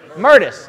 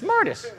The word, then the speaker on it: Mertes: Mertis. It's Mertis.